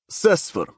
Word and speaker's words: CSFR: Often called by the acronym CSFR, pronounced Sesfer.